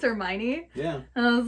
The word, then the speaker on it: Hermione: thought his friend, who's a female's name, was Hermione, and it's Hermione. Yeah. And I was like, this is not correct. It's Hermione.